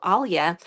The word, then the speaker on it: Alia: shortened my name to Alia although even uh back in my native country people could call me Alia we have like a little soft L sounds and we can soften